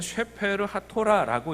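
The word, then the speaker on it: ספר התורה: 이 책의 이름을 히브리어로 읽으면 셰페르 하토라라고 읽는데, 이런 식으로 읽는 것은 언제 읽느냐 하면 모세오경 전체를 지칭할 때 이렇게 읽는다는 거예요.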